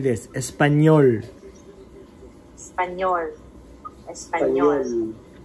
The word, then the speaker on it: español: Espanol. Yeah, you know how you're ending your mouth should be like this. Espanol. Espanol. Espanol. Yeah, oh, like an O sound.